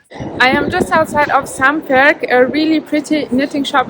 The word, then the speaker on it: Samværk: Yeah, I'm really happy to be here at Samværk. Do I pronounce it correctly? Almost, yeah. Almost. Samværk, yeah.